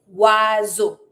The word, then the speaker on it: oiseau: Why does it make that sound? O I makes the sound wa. E A U makes the sound o. The S is between the I and the E. So, because it's between two vowels, Z sound. Wazo.